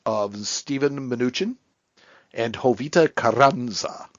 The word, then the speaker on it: Carranza: Stephen Mnuchin and Jovita Carranza. Ooh, I love that pronunciation. Carranza. Yeah, I rolled my R's.